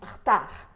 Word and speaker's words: retard: Quando a gente fala a palavra retard, rapidamente esse E do meio acaba desaparecendo. E eu falo retard.